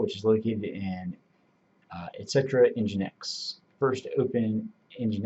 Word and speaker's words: nginx: from user application files nginx so nginx is pronounced nginx is a lightweight web server that is installed